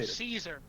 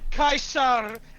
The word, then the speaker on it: Caesar: you mean kaisar no Caesar Kaiser people just say Caesar I know I know that Kaiser is the proper classical pronunciation but I've been saying